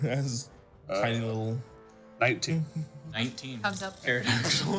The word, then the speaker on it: pterodactyl: some of those around see a pterodactyl on here that's you spell it with a p no it's a pterodactyl it is a pterodactyl then I was right the first time I spelled it sick Yu you should transform into a pterodactyl with a gun oh Ark no I've thought about making an arc Druid padon pterodon pterodon or pterodon my bad no it's a silent P which is nonsense yeah uh makes my